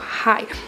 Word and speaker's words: HÁI: 称呢叫做 Hi，它的发音其实来自台语的海。